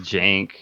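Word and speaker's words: Cenk: It's just Jank. Yeah, a Jank, but it's spelled like Uyghur.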